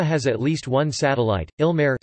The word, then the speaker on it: Ilmarë: at least one satellite ill merit stress on the first syllable Quenya ilmar or VAR